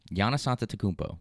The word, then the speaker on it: Giannis Antetokounmpo: Giannis Antetokounmpo. Thank you. Yeah. December 25th, starting at 2. It would really suck if I'm pronouncing that wrong.